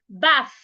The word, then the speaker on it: bath: Instead of saying bat, you want to say bath.